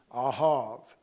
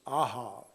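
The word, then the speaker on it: אהב: Now, the key idea is the word that is pronounced in the Hebrew, ahav.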